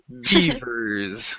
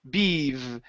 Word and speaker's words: beavers: Next one here is our famous word, beavers. Okay, give me a good V sound I was here. trying to do my best. Yeah. So top teeth on your bottom lip. Beavers.